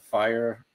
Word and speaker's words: FHIR: um you know is is pronounced fire but it's fhir and